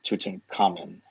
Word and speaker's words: Tutankhamun: changed his name to Tutankhamun to get away from his father's religion, and now, or I think it could also be pronounced Tutankhamen. That's pretty much the same thing, yeah.